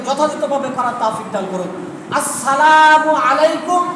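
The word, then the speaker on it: السلام عليكم: আসসালামু আলাইকুম, এটা হলো সঠিক উচ্চারণ। আসসালামু আলাইকুম, আসসালামু আলাইকুম, সালাম, এই ধরনের না করা।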